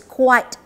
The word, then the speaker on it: quite: sound at the back de qu AR te quite it is the quit with e alright so you want to